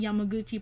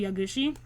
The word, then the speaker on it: Yaguchi: I can't wait to see Yamaguchi progress. His name is Yatora. I think I've been saying his name wrong this whole time. His name is Yatora Yaguchi.